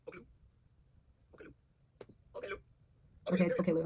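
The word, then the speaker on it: Oklou: Oh, it's pronounced Okay Lou. Wait, for real? Somebody said, can you please tell me how to pronounce Oklu? Okay Lou?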